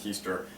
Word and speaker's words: Heister: I always thought it was Hester, but it's Heister.